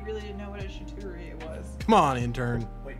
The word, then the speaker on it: charcuterie: Is it a charcuterie or a charcuterie? It's shit-tuterie. Tomato, it doesn't matter. It's literally pronounced both ways.